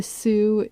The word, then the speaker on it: Sioux: Sioux. Yeah, Sue.